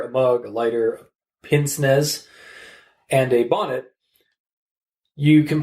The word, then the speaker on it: pince-nez: So pince nez, or apparently as it is pronounced in French, pince-nez, is a style of